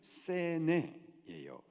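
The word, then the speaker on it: סנה: 이 떨기나무를 히브리식 발음 그대로 말하면은 세네예요.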